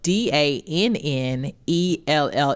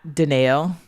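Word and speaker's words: Danelle: Well, my name is spelled D A N E L L E. It is Danell. It's not Dell. It's not Danielle.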